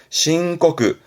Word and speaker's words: 申告: 발음은요. 신고그.